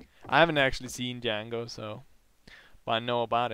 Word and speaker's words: Django: Django! The D is silent. I haven't actually seen Django, so...